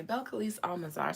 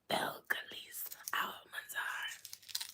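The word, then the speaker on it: Belcalis Almánzar: Beliss Almanar. So that means somebody misspelled it and it threw me off. Beliss Almanar Belise Almansar.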